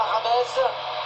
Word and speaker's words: James: Lewandowski, Rodriguez, quelqu'un qu'on appelle juste Rames, et qu'il faut surtout prononcer Rames, c'est pas James, comme on l'avait cru au début d'ailleurs.